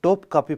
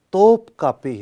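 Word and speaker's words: Topkapı: لفظ توپ کاپی ہے، میں بھی بعض اوقات جو ہے نا ٹوپ کاپی پڑ گیا، لیکن صحیح تلفظ جو ہے وہ توپ کاپی ہے۔ توپ جیسا کہ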